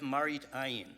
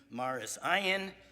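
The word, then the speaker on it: מראית עין: Now, one interesting application of Lifnei Iver is a halachic concept known as Marit Ayin, appearances. It's also known by its Ashkenazic Yiddish pronunciation, Maris Ayin, and a lot of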